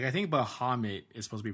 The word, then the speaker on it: Bahamut: something like that but it's like Bahamut like the U is like the O not the uh sound so like it it